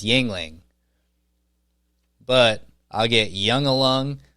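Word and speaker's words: Yuengling: now buddy yeah now but I'm drinking a Yingling flatte it's a Yingling flight it's pretty good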